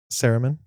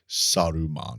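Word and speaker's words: Saruman: So, we have uh Saraman, obviously. Okay. Okay. Interesting pronunciation there. How do you pronounce it? Suruman. Oh, Sodom.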